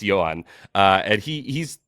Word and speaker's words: Joan: because I was like there's no way this dude's name is Joan Adon uh and it's not it's Johan uh and he he's